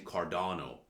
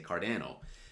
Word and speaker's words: Cardano: Or even me, I know I should be saying Cardano, but I kind of like poking some fun and I say Cardano.